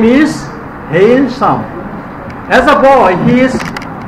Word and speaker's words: Hailsham: And look at the pronunciation. Hailsham.